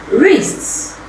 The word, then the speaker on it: wrists: You can see the silent letter K, but it does not represent any sound in the pronunciation of the words I just mentioned.